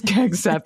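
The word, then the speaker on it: Hegseth: And when I say his name Kegseth, it sounds like I'm saying it wrong because his name is Kegseth, and that's how we've been saying it for almost a year.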